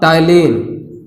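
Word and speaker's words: ptyalin: पहला टाइलिन, टाइलिन इस पी इसमें रहता है, प्रोनाउंसिएशन करते हैं टाइलिन का से।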